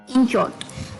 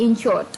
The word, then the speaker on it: inchoate: जी हाँ, थोड़ी सी प्रोनाउंसिएशन थोड़ी सी अटपटी है, इन शॉर्ट, INCHOATE, इन शॉर्ट।